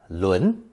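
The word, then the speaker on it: 仑: see I've just added a new character pronounced second tone Len which is used only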